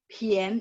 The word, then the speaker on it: 便: dia dari sistem ya harusnya bacanya gini 便宜 Pien ya pakai P.